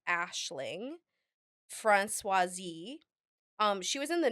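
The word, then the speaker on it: Aisling Franciosi: actress um it's her her name is pronounced Ashling franois um she was in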